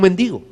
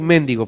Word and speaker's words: mendigo: su condición era un mendigo no va a decir mendigo por favor se dice mendigo es la manera correcta de pronunciarlo y y este hombre